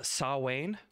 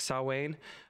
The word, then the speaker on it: Samhain: to uh so uh saw wayne how you say it yeah and gaelic saw wayne um and the cutest